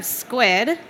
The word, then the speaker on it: Skuid: So next up, we have Skuid. Pronounce that right? Yes, that's correct. Great. Squid. Skuid. It's Skuid.